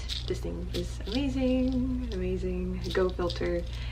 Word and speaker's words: Go Filtr: thing is amazing amazing go filter and it's spelled go and then filter as f-i-l-t-r but this is amazing